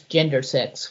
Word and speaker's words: gender sex: new compound phrase that I pronounce gender sex with an emphasis on the first part of the word, but I consider it one word.